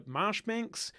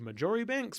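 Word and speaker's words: Marjoribanks: that kind of stuff another one is Alexander marshbanks who in the episode I called majori Banks because I didn't realize that you actually pronounce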